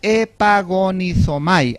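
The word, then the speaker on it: ἐπαγωνίζομαι: Ahora, la frase contendáis ardientemente es una sola palabra en el griego y se traduce epagonizomai, así se pronuncia.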